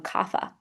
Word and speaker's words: kapha: And then you have kapha. Kapha person's earth and water. And we can pronounce that one kapha.